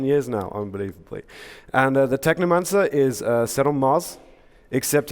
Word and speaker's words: Technomancer: It rhymes with my favorite book, Necromancers, or Neuromancer, Technomancer.